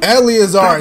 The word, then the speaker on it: Eleazar: Eleazar, that's how you pronounce.